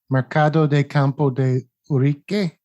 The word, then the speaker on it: Mercado de Campo de Urique: We were staying in a friend's apartment, which was near Mercado de Campo de Urique.